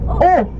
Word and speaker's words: eau: If you want to order water, water in French is eau. Yeah, just be surprised. Eau. I know. Written down is different because French writes down differently as they pronounce.